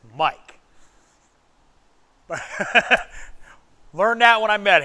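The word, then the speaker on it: Miac: His name is Mike, even though it's spelled M-I-A-C. It's Mike.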